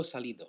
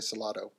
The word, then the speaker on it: Salido: How do you say that last name? Veteran Orlando Salido. Salido. I was starting to say Salado. Salido.